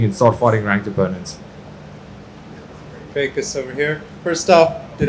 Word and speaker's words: Dricus: They said Dricus, which is a lot closer than, well, to be honest, the American folk have been struggling to say my name. It's just because of the R.